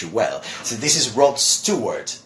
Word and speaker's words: Rod Stewart: popular British singer well many people call him rod Steve word or whatever but his name is Rod Stewart Stewart okay Rob Stewart as